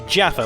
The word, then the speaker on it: Jafar: last phas off with Jafar who the characters insistently pronounce as Jaffa like an orange field biscuit cake Jaffa I am terrified